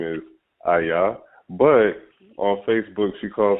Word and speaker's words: Iyah: issue is the pronunciation my name is aya but people say aya and i've gotten that